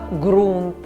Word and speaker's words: ґрунт: вологий грунт До речі у словах ґрунт ґрунтовний вимовляємо звук Ґ а не г так само як ґанок ґудзик ґуля аґрус ґава тощо слово ж кохати вживаємо